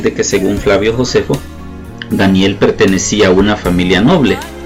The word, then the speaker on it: Daniel: significado de su nombre danielle se pronuncia igual en el hebreo como en el español y su significado es